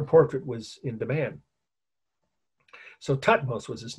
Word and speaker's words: Thutmose: So Thutmose was his name. That's T-H-U-T-M-O-S-E, if you want to write it. You could just spell it how it sounds.